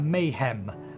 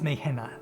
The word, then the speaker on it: Nidhana: um um midwives may i want to pronounce that mayhem but it's me henna me hannah there pray make your